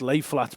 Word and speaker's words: Lafayette: Thurmond was replaced by the Lafayette hotel pronounced lay flat by locals the Don Glenn Hotel